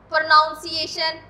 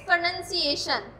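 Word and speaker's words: pronunciation: हूँ बार बार प्रोनंसिएशन, इसको बोला जाता है हमारी सोसाइटी में प्रोनाउंसिएशन। It's wrong, it's प्रोनंसिएशन। इसको सेलिबल्स में डिवाइड नहीं करना, इसको एक ही सेलिबल को लेके चलना है प्रोनंसिएशन के टाइम, इट्स प्रोनंसिएशन।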